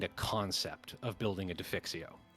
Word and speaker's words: defixio: get the kind of concept of building a defixio right yeah yeah how do you spell defixio uh d e f Def IX IX i